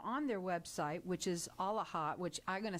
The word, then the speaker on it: AALHA: So you can check them out on their website, which is AALHA, which I'm going to spell it out for everybody because it sounds like sort of holla with an all in front.